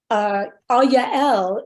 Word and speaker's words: Yael: And what I didn't know originally that I later found out is that the two syllables Yah and El are both names of God.